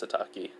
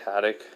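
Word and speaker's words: Hatake: Well, Haddock or, Hataki? Yeah, it's Hataki. I don't know why I say Haddock.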